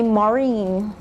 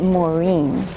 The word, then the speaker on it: Maureen: all ma you yes my mother likes to call me Maureen but I pronounce it Maureen you are foreign Paula